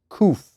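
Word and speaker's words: qof: In symbolism, 100 has the letter KOF Q pronounced KOF.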